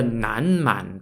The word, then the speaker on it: Nanman: had for the bay your people was the Nan man people nanman spelled n-a-n-m-a-n which literally means Southern